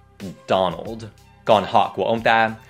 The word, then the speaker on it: Donald: Thứ nhất, ở đây không phải Don mà là Don. Don. Còn ở đây, hai phụ âm cuối này rất quan trọng. Old. Old. Donald.